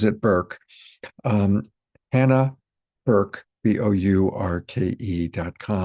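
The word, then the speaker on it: Bourke: I've been calling it Burke for a dozen times and I have to keep remembering that she pronounces it Burke.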